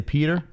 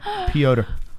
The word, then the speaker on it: Petr: So every time I say his name, I say Peter, and I'm like, I'm saying it wrong. I got to say it right. Petr.